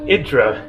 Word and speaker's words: Hydra: are in Greek so here the spelling looks like Hydra they pronounce it more like idra Santorini is actually Sarah